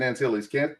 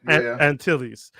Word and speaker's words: Antilles: Is that how you say his name? No, it's Captain Antilles. Antilles.